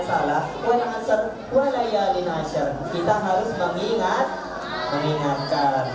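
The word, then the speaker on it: العصر: Sholat apa? Asar. Ditekan. Asar. Wal asar. Walayalin asar. Betul nggak? Salah. Siti bacanya gitu. Ya, betul. Siti bacanya gitu nggak?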